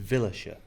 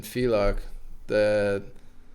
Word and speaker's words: Villach: That was nice because in Villachia. In Villach, Was that how you pronounce it?